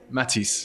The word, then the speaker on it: Matisse: Matisse. Yeah. Okay, kind of like the artist.